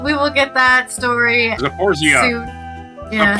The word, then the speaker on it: Zaporizhzhia: will get that story Zaporizhzhia. soon. Yeah. Zaporizhzhia. Well, that's how he was saying it in his. He was like, "This is how a Ukrainian would say it."